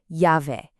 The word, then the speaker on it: llave: For llave, or key, just remember that in Spanish, that double L almost always sounds like a ya in English, so it's llave.